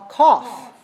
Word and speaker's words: cough: word c 0 ugh we don't say like like enough we say all all cough cough cough alright so this word is all sound cough call so do these